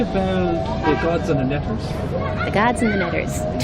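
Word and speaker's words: neter: They were called netters, which we get from the word, or the consonants, the glyphs for the consonants, NTR, which when pronounced, you get netter, but you also get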